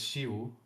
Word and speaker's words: Chiu: And yeah, I never knew how to pronounce his name. So, it's Shu. Yes, Shu. I I said Shishu Shishu for a very long time, but uh yeah, that is uh not correct.